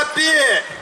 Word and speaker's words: 遊人: 朝霞市からやってまいりました、遊び人と書いてアッピーと申します。